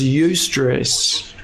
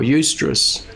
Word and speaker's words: eustress: one i've got is eustress or eustress there's sort of two pronunciations that i've heard for this word and this is a